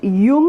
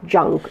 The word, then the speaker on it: Jung: by uh carl jung it is pronounced young and not junk okay to you now